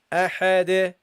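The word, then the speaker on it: أحد: So you go ahade, and notice how I gave a bounce, guys. Notice how I gave a bounce. Notice how I gave bounce on this. Okay, so you don't pronounce this. You make this non-voweled. Okay, and notice how I gave it a bounce. Ahade.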